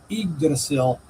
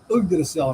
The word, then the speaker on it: Yggdrasil: Some people mispronounce that as Yggdrasil, but it is Yggdrasil, and I'll explain why.